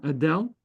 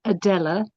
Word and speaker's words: Adella: Yeah, Adele. Adella, how how am I pronouncing your name correctly? You're muted. Okay. My name is Adella with an A at the end.